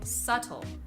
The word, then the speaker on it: subtle: they're pronounced this way the words are debt doubt and subtle the reason that these words are spelled this way is because there was a long time ago when people would pronounce the B in these words but over time this has changed and we no longer do this so the spelling was maintained but the pronunciation was not the only thing to